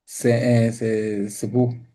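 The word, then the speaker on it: זבוב: Y entonces ahí, qué gran milagro, porque la presencia de una mosca representa, ¿cómo se dice mosca en hebreo? Zbu, zbu, así se dice, zbu.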